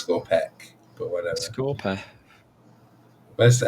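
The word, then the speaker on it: Skorpekh: It's Scorpec, but whatever. Scorpeth. Where's the Scorpeth. F? It's just my pronunciation. Scorp is the P. Scorpeth. Scorpec. No, it's like Egyptian, so it's pech.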